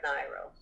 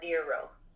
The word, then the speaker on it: Nyro: And just so I could be near Laura Nyro, or Nero. It's up for grabs how she pronounces her last name.